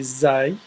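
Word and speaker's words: ز: R then we have Z we have an r with a DOT on top and that will be Z it's similar to Z yeah it's actually it's the closest to Zed Z just an arc with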